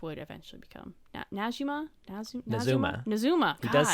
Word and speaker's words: Nazumah: South srima which would eventually become najima Zuma nazuma he does say it in his quote so we have uh pronunciation so nazumin nazuma okay nazuma uh where they could live free